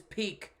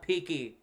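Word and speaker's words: Peeke: wrong the whole time his name is peak not peaky all right good to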